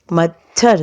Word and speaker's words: मच्छर: फिर च प्लस छ, तो मच्छर, मच्छर, च प्लस छ दोनों का हम लोग उच्चारण करते हैं, राइट।